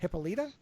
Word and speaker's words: Hippolyta: I can never pronounce this. Hippolyta.